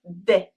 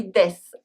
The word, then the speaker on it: dès: Finally, in des, the S is always silent. If you pronounce it, it becomes the name of the Swiss singer for children, Henri Dess.